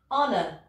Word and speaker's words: honor: Le H doit se prononcer, mais il y a quelques mots en anglais dans lesquels on ne les prononce pas. Voici certains mots. Donc il y a ceux-là et leurs dérivés. Hein. Hour, donc, qui veut dire heure. Heir, qui veut dire héritier. Honor, c'est transparent.